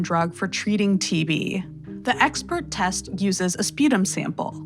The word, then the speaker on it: Xpert: is talking about is called the expert test that's spelled XP RT and it's manufactured by